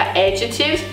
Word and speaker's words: adjectives: A sílaba tônica é a primeira sílaba em inglês, então fica adjectives, e é só treinar.